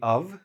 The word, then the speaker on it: of: Now, one of the best. So here again, we have the TH. One of the best. Notice I say of with a V, not an F.